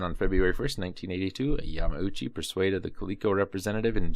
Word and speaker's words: Yamauchi: respectively in the end a Yamauchi and there is no G in there I'm not not I'm not just not pronouncing it granted kico exclusive